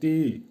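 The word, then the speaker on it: ты: তি, উচ্চারণ হবে, আবারও বলছি তি, বাংলা হবে তুই অথবা তুমি।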